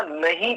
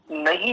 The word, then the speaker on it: नहीं: उसमें, प्रमाद भी है, तो मैं भी नहीं शब्द के स्थान पर नी ऐसा प्रयोग करता हूं।